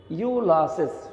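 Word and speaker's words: Iolaus: তো কি হলো যে হারকুলিসের একজন ইউলাসেস, এটা উচ্চারণটা হবে ইউলাসেস, ওকে, ইউলাসেস।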